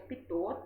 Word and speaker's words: pitot: de um sensor pinote, que é o pitot, se pronuncia pitot, tá?